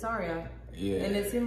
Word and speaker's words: Ayra: Ayra? Ayra Starr. Ayra. Is it Ayra? Yeah. Ayra Starr. Ayra. Like Ayra. A-R-I-A. Okay. It just spelled like. Kind of like flip the R and the Y.